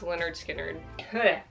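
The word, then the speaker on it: Lynyrd Skynyrd: as daylight ties la la land original soundtrack leonard skynyrd it's pronounced leonard skinner so much dust holy nirvana never mind oasis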